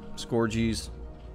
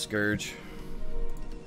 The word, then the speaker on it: Scourge: can start getting some scorgies and yes I know how they're pronounced scourge but scored you sounds better there's your Nexus upgrade